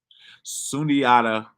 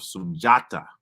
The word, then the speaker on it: Sundiata: Sundiata, as we pronounce it, is sometimes spelled Sunjara. Sunjara is an early form of Sunjata.